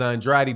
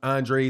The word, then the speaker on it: Andrade: Demetrius Andrade or Andrade I always learned to pronounce that name is on dry d but I think he pronounces his I'm Andre so Demetrius bubu Andrade